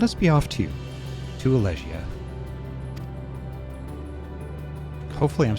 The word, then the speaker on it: Elegia: It is Elegia. It's Elegia? Okay. Philadelphia, that's right. It's actually pronounced Philadelphia.